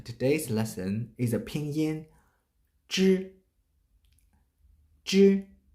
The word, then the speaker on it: zhi: When you want to pronounce zhi sound, please roll your tongue.